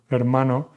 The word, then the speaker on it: hermano: For example, the word brother, hermano. English speakers tend to pronounce hermano, hermano. No, no, never. The H is completely silent. We do not pronounce it.